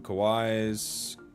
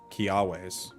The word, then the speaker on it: Kiawe: Two Kawais. No, it's, what is it? Kiawais.